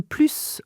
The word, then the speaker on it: plus: So we are establishing here that "le plus" and "la plus grande" are both superlative, but one has a S sound, okay, when it's not followed by anything, When it's not followed by an adjective.